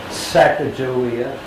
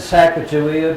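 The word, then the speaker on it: Sacagawea: Well, there was Chicago, there was Sackia and it depends on who you're talking to, how you want to pronounce it. I always said sack of Jia because in Oregon Washington we have statues and it's a J.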